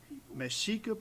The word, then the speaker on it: Mexica: Mexica, pronounced what?